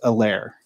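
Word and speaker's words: Helaire: the announcers that ceh his last name the h is silent i have not heard anybody else pronounce it without you know they were basically calling him edwards a lair is that how it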